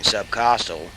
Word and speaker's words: subcostal: Note that the C in subcostal is pronounced like a K.